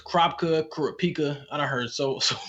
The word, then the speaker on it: Kurapika: don't know if it's Kropka, Kurapika. I done heard so many different pronunciations of the name, The man. anime says Kurapika, so I'm gonna say Kurapika. That's how Gon, Free, and Killua say it.